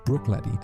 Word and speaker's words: Bruichladdich: This time pronounced Bruichladdich and it happens to be the resident rebel of the whole island.